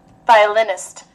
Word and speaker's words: violinist: Violinist. Violinist. Kia là violin, này là violinist. Ở trên nó nhấn chữ lin, nhấn nhỏ ở dưới là chữ vai, nhưng mà nhấn mạnh là chữ lin, được chưa?